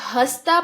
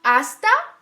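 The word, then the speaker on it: hasta: आस्ता प्रोंतो आस्ता प्रोंतो यह हस्ता प्रोंतो नहीं है खोला ओके एच हमेशा साइलेंट होता है आस्ता प्रोंतो आस्ता प्रोंतो आस्ता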